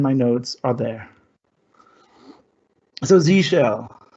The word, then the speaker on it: Z shell: notes are there so z shell it's pronounced z shell which is obvious for the american listeners for the international ones they usually want to say zed hell but then the pun